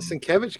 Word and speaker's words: Sienkiewicz: Sienkiewicz. Yeah, that guy. And oh, there it was. Up. And Michelini's back on it. So, and that's the Paul Sciarra one. The Sienkiewicz covers.